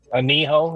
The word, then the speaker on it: anillo: Aniho is what it's called. Anillo, Anillo. Oh, okay. Got it. You've heard people pronounce it wrong, the Anillo, but it's just because, Americans can't pronounce nothing.